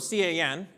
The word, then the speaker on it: can: We do not pronounce it the way it's written. We pronounce it like Barbie's boyfriend, Ken.